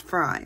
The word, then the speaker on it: Frey: It's pronounced Frey, or it's spelled Frey, but it's pronounced Fry, like my name.